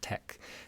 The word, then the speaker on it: TeX: It's pronounced tech.